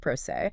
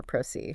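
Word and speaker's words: pro se: Rhyming with day. Never proceed.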